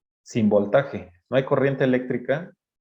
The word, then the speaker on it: eléctrica: No hay corriente eléctrica. Eléctrica, lleva acento en la E.